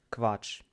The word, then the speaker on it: Quatsch: И она всегда произносится с другой буквой К и В, другая буква, вместе ква. Например, есть слово квач.